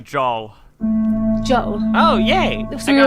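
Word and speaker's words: Jaal: pronounce it Jol. Joel. Oh, yay! So I got my we were answer. right, yeah. Is he spelled out phonetically? Yeah, jaw and L. So Jol.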